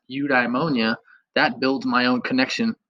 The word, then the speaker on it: eudaimonia: seeing it and then knowing like oh it's pronounced eudaimonia that builds my own connection of this word